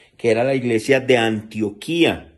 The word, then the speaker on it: Antioquía: era la iglesia de Antioquía, no Antioquia, no, Antioquía, se escribe igual, pero con tilde en la I, en la iglesia de